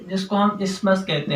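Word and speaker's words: isthmus: और ये जो दोनों लोब होते हैं, इनके दोनों लोब्स वो कनेक्टेड होते हैं एक स्ट्रक्चर से जिसको हम इस्मस कहते हैं। इस्मस, टीएच साइलेंट है।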